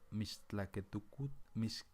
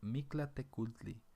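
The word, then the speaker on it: Mictlantecuhtli: de regreso al inframundo, donde se encuentra Mixtlaquetucut, perdón, es que está bien difícil de pronunciar, pero se llama Mictlatecultli, el señor Mictla, que alguna vez sorteó los obstáculos que le permitirán el descanso eterno.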